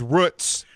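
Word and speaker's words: Root's: what is the name they pronounce their name root okay okay so I have a question follow-up so it is Roots Market okay okay hold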